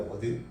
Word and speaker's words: ward: 그 이제 와드가 그걸 이제 요것이 원래 영어 발음 제대로 하면 워드입니다. 워드.